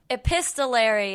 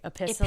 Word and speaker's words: epistolary: Epistolary is how you say it. Yeah, you weren't uh totally off with what' you say? Epistol. Epistolary. Episttolary. Yeah. I was just making the tea silent like an apostle.